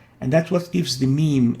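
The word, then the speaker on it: م: next letter is the meme that's how it looks meme and is equivalent to the english m and it's pronounced as as in immediate notice the meme has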